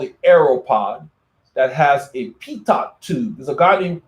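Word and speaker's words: Pitot: the pronunciation is there it's pronounced like pito so a pito tube is a wind measuring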